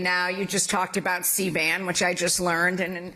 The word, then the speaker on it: C-band: You just talked about C-band, which I just learned, and I had to realize with my mnemonic device that it is rhyming with C-SPAN.